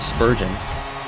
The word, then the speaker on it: Spurgeon: me he has a shot and he scores Spurgeon not how I would have pronounced it but Spurgeon what about this guy Nicholas Day or duh